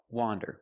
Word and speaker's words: wander: Wander with the open sound. Ah, wander. Now let's talk about wonder with the closed sound.